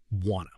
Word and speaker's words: wanna: Number two, wanna. This is want to, but the tea completely disappears.